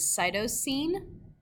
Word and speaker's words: cytosine: The second one is cytosine, the third one is adenine, and the fourth one is thymine.